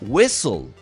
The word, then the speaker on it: whistle: Para decir silbato o silbar, se dice whistle. Y ese whistle tiene por ahí una H que no se siente, o sea que es muda.